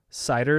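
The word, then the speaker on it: CIDR: got to it first so cider is the corre is the pronunciation of cadr cool cider I love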